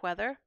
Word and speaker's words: whether: Things like the WWH distinction, where you get weather but whether.